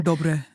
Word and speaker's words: Dobre: Yeah, and I was like, okay, how do I pronounce her last name? Dobre.